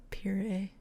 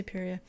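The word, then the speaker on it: Perrier: i think it's period puree french dude it's p-e-r-r-i-e-r you don't pronounce the r i don't i don't speak french i don't know it's like period i'm just going to say peria um and like hans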